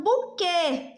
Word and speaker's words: buquê: Marina, quando eu falo Marina, qual som é mais forte? Ó, vamos chamar Marina. Marina, Marina, o ri é mais forte. Quando eu falo buquê, já tem um acento